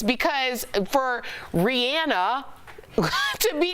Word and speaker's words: Rihanna: If you listen to the radio, and Rihanna, she said it was Rihanna. I'm going to call her Rihanna.